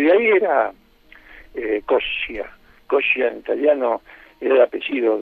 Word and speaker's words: Coscia: Pronuncio como los italianos, es decir, la doble consonante se pronuncia más fuerte.